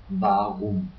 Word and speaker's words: warum: The W is pronounced like a so like the V in English. An example is warum, why.